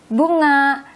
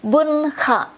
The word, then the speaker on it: bunga: As we see here, this N and G, we read it as like when we say ringing, that there should pronounce at ringing. Sometimes I hear people read or say this one as bunga, bunga, bunga. It's not the N and G, it's together. They're together. You read it as instead